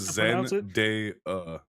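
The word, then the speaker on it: Zendaya: However, the actress herself has clarified that the day part of her name is pronounced like the word day.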